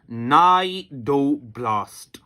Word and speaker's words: cnidoblast: Similarly मेरे बेटे, the cell of Cnidaria, the cell of Coelenterata मेरा बेटा इज नोन एज नाइडोब्लास्ट। मैं स्पेलिंग बोलूंगा आपको बेटा, CNIDOBLAST, नाइडोब्लास्ट।